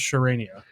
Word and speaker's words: Charania: No, I looked it up. It's Shams Charania.